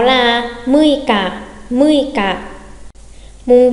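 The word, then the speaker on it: 六日: Mùng 6 đọc là gì nhanh ạ? 6 là muika, muika.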